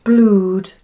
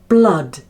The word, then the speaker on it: blood: No, not blued. Here, those two O's together have the sound ah, like in mud. Mud. And it sounds like this. Blood.